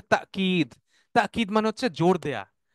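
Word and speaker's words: تأكيد: হাদা তাকিদ লিল ওয়াইদ, তাকিদ, তাকিদ আমরা বলি না তাগিদ দেয়া বাংলায়, তাগিদ শব্দটা আসলে আরবি শব্দ থেকে আসছে, যেটার উচ্চারণ হচ্ছে তাকিদ।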